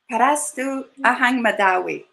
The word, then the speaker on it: Parastu Ahang Mehdawi: I can't begin to pronounce her last name, but she's going to say it again. Parastu Ahang Mehdawi.